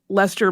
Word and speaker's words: Leicester: But Leicester, and that is spelled the same way that the city in England is spelled, but it is pronounced Leicester similarly, much younger than his famous sibling, has quite a story of his own.